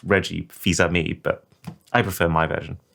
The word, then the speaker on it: Fils-Aimé: I think it's actually pronounced Reggie Fils-Aimé, but I prefer my version.